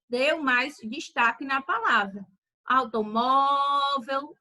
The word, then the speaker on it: automóvel: Olha o automóvel. Perceba que o mó você falou com mais intensidade, você falou com você falou mais forte. Então, ele deu mais destaque na palavra. Automóvel, o mó, ele se destacou mais.